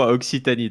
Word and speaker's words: Occitanie: Like France 3 Occitanie, am I pronouncing it right? Yeah, France 3 Occitanie.